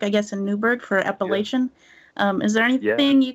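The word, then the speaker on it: Apalachin: It took place in 1957, where in the small town of Appalachian, that's how they pronounce it there, and in upstate New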